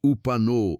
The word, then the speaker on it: Upano: The place is called the Upanu Valley, pronounced Upano, in the Morona Santiago region of eastern Ecuador, where the Andes mountains begin to melt into the Amazon basin.